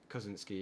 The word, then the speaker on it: Kosinski: like Joseph, I think is it Kosinski is his name. I might be butchering how you pronounce that. Kosinski, yeah.